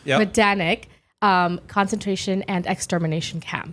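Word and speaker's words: Majdanek: and you know what there's a J in there and I hear that the J is silent that's a hard one don't say the J medanic um concentration and extermination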